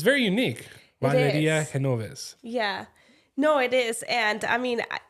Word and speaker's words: Genoves: Henovves. I kept saying G like G, you know. Yeah. I always say Genovves cuz nobody can really pronounce it. But it's Henov.